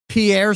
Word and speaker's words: Pierre: One, Pierre, South Dakota is pronounced pier like beer for a reason.